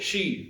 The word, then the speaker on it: she: कई सारे लोग उसे बोलते हैं सी, वो सी नहीं है, वो शी।